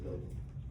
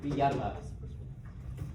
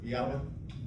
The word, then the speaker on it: Villalba: Villalobos. Just go ahead. Villalba. Would you like to pronounce that again? Go ahead, Mr. Villalba. Villalba. There you go. You didn't get close enough.